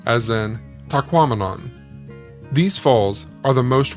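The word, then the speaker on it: Tahquamenon: is to remember that it rhymes with phenomenon as in taquon these Falls are the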